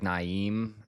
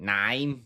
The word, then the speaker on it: Naeem: No, because of the way it's spelled, it's like Naeem, I guess. But that could also just be how Australians say it. Naeem. Naim?